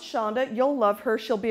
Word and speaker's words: Sandhya: and Matt said my response would be it's pronounced Shonda you'll love her she'll be arriving on such